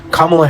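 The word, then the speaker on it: Kamala: progressives is absolutely insane it's a six-letter name pronounce it correctly kamla Harris like you guys sit here and wonder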